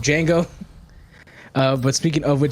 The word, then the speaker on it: Django: one i'm pretty sure i'm saying wango because the d is silent for those who don't get the joke of django uh but speaking of